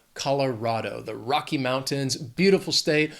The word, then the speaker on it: Colorado: This state has 4 syllables. The stress is on that third syllable. Even though it's R-A-D, it's Colorado, not Rado. Colorado, the Rocky Mountains, beautiful state.